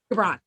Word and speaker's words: Gibran: Gibran. Thank you. Yeah. I only had to look up one name on how to pronounce it, and I had to listen to it like 5 times.